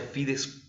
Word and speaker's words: fides: le llamamos pides fue así se pronuncia se escribe fides pero se produce a fides wen en latín cuando veamos